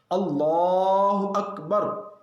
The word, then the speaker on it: اللہ اکبر: اس لیے اس کلمے کے تلفظ کا لحاظ بہت ضروری ہے۔ اللہ اکبر، اللہ اکبر، نہ الف لفظ اللہ کے الف کو لمبا کرنا ہے، نہ لفظ اکبر کے